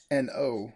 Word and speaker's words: An Oa: And I did take a look to see what the pronunciation was. So I know it is An Oa, and it's at the local body of water